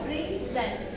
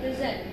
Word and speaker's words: present: So in the context of a verb, we again have two syllables here, present, present. So if it happens to be, if the word happens to be a preposition or verb, then we are going to stress syllable number two.